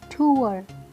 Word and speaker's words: tour: इसे क्या ज़्यादातर लोग बोलते हैं? टूर, कि हम टूर पर जा रहे हैं, विच इज़ इनकरेक्ट। क्या है correct pronunciation? टूर, टूर, टूर। इसमें जो लास्ट वाला आर, देखिए most of the time English में जो आर होता है ना वो साइलेंट ही होता है, जो लास्ट वाला होता है।